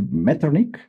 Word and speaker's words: Metternich: de este personaje, me dirás el contexto, este Metternich es la pronunciación de este personaje que después de las